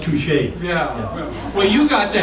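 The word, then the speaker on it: touché: Touchy. That's pronounced touche.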